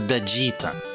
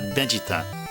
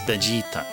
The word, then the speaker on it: Vegeta: there we go so the way that's pronounced is Vegeta with the stress stressing the G part veget it's not Vegeta it is Vegeta and how that Maps